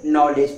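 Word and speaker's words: knowledge: कि एन से पहले जो के होता है वो साइलेंट होता है। वो लिखाता तो है बट पढ़ा नहीं जाता है। है ना? तो यहां पे क्या इसको पढ़ोगे? नॉलेज पढ़ोगे।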